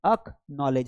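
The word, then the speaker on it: acknowledge: तो यहां पर देखिए ये के पहले सी आया इसलिए इसका कोई साउंड नहीं है, एक्नॉलेज हो जाएगा।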